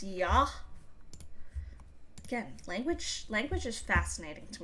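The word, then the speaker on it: Я: Despite looking like a backwards R, that is pronounced yah.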